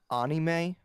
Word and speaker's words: anime: an ahmadi phantom yeah it's actually pronounced ani may please Andrew Street how